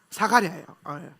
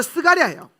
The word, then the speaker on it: 스가랴: 사가랴예요. 사가랴. 이 사람이 좀 중요해요. 사가랴. 사가랴는 히브리어로 스가랴예요. 스가랴. 같은 이름이 헬라식 발음이고 원래는 스가랴예요. 스가랴.